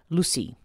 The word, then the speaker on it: Lussi: to do with a figure known as Lucy and it's spelled Lu SSI now Lucy is connected